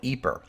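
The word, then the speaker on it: Ypres: to call it eeper when I talk about the battles of the Great War I'll say e because that's what the other English language histories do I hope that helps you know I could call it wipers which is the only half joking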